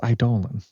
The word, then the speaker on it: Eidolon: It's Eidolon. It's dang. That's why his name rhymes with colon.